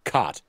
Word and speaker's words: cot: of like so um the way I pronounce it is that the the bed is like c-a-h-t cut um but the but like the catching something is like c-a-w-t caught and so here's the